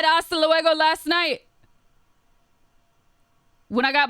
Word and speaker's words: luego: Logo? Isn't it hasta luego?